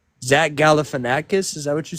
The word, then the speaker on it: Galifanakis: Zack Galafanakis the actor. Zach Galifanakis.